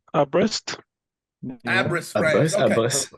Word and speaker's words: Brest: It's Brest.